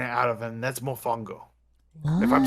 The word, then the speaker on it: mofongo: mashed potato kind of out of them that's mofongo if i'm saying that correct i don't know